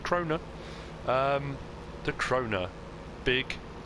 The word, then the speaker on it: Krone: piece of machinery and they referred to as crona so i've been saying it wrong all this time crona i'm sure somebody